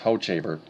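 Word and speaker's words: Hochevar: And it's pronounced Hochaver, by the way. Okay, he was a reliever. Okay, so Hochaver, excuse me.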